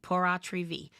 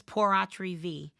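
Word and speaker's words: pur autre vie: v a life estate porri V Christina at the end of this if you want to ask me then I will answer that question but not right now remember this V rhymes with Fe and Fe means it's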